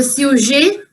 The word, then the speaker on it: sujet: The pronunciation will be same because we are making them plural by adding s. So sujet, sujet, pronom, pronom.